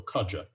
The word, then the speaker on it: Kaja: And also, I've been informed that the J in Kaja is as John. So Kaja, it was naturally one of the 20 ways of pronouncing J that I didn't pick.